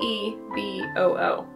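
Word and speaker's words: eeBoo: a really cool puzzle I found this company called yeah I hope I'm saying this right EBU e e b o o e boo I think that's how you say it um and they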